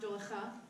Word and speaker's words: Dowlatkhah: whole name thing personally my last name is do w le tu KH age just pronounced doula stuff and I'm an Army